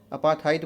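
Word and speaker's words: apartheid: अपार्थाइड बोलेंगे, अपार्थाइड या कुछ भी नहीं बोल देंगे, आर यहाँ पर साइलेंट है, तो अपार्थाइड बोलेंगे।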